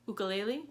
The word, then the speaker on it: ukulele: She walks around with a ukulele, which is how you actually pronounce it, I found out.